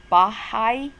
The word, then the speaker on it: Baha'i: called the Baha the bahai that's hard to pronounce Baha'i there's an emphasis on the I by high and so the Baha'i